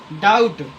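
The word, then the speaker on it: doubt: तो जब बी के बाद टी आता है तो बी हमेशा साइलेंट होता है।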